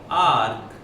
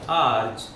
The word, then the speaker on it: erg: वन ई आर जी आर्क या आर्च जो मर्जी प्रोनाउंस करें एग्जाम में बोल के नहीं बताना लिख के बताना है दैट्स व्हाई आर्क या आर्च योर चॉइस ठीक है जी व्हाट